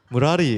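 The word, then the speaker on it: 므라리: 아예 무라리 원래 이렇게 발음하는 거예요.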